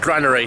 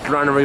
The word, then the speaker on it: Granary: here on granary wharf i think that's how they say it granary not grenary even though it might sound like canary off in london but anyway this is